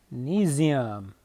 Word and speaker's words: magnesium: we name it magnesium sort of like gymnasium right so you just name